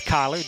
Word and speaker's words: Kyler: Kyler Talley, I'm assuming that's Kyler. Do you know, Matt? It's Kyler. Okay, it's spelled a little bit weird, but Kyler Talley, a left fielder for Greenwood.